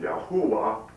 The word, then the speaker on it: Yahuwah: stand about this Christianity, Jehovah, whose name should be pronounced Yahuwah, which of course shows